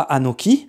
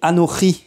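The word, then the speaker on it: אנכי: On ne dit pas Anoki, mais Anochi.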